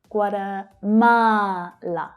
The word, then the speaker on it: Guatemala: Guatemala, Guatemala. So we've got 4 syllables here and the third one is stressed. Guatemala, Guatemala, Guatemala.